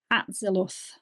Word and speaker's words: Atziluth: So if you compare it with the four worlds in the Tree of Life, everything starts at, now excuse my pronunciation here, Atzulith. I got that right, Atziluth. Yes.